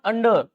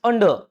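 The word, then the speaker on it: under: यहां पर देखो ये क्या लिखा हुआ है, क्या लिखा हुआ है, इट इज नॉट अंडर इट्स अंडर।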